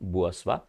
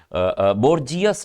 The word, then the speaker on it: bourgeois: बुअस्वा की स्पेलिंग देखो, spell test पूछी गई है, बुअस्वा, बोर्जियस नहीं कहते इसको, बुअस्वा बोला जाता है, बी लिखते हैं,